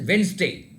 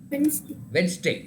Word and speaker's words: Wednesday: Then Wednesday. You have to pronounce as Wednesday. Wednesday. So the D is also again little silent.